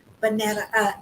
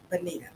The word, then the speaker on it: Bonita: Shayna Danae calling Bonetta. No, boo. Bonita.